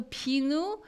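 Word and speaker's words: 비누: it looks exactly like it okay yeah so pinu is so and we're going to have a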